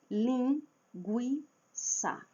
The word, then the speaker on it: linguiça: Então darei um exemplo, lin gui ça. Linguiça deveria ter o trema para indicar que a letra u, que a vogal u é pronunciada, lin gui guiça. Porque nós não falamos linguiça.